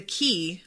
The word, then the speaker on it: quay: The que- the key, I always forget how to say this cuz it looks like quay.